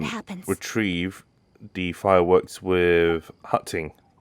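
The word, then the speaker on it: 刻晴: retrieve the fireworks with Hutting. That is the Cantonese pronunciation of Keqing's name, so I'm going to be using that.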